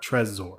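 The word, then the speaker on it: Trezor: I want to recommend is a wallet called treaser and we'll link to all these in the podcast description but I'm going to spell it out anyway so t r e z o r Tresor Tresor is really cool because you know Ledger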